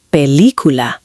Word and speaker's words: película: especially with película. Some learners stress the wrong syllable. Natural pronunciation sounds like película.